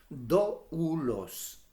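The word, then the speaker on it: δοῦλος: Doulos. ¿Ok? Otros lo pronuncian de otras maneras, pero en realidad es doulos.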